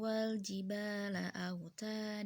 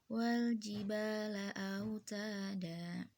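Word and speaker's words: والجبال أوتادا: well GB laut ada Jadi bukan Wal Jibal Aa Uta dan tulisan Emang out Adan tapi kalo bacaannya Wal Jibal laut ada itu begitu juga contoh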